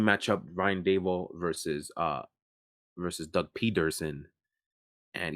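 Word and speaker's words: Pederson: But we got a nice coaching matchup, Ryan Dable versus Doug Peterson. And yes, every time I say Peterson, I always emphasize the D because I've never seen a name spelled like that before.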